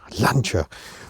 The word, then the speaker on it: Lancia: 1993, probably in anger because we don't pronounce it correctly. Lancia.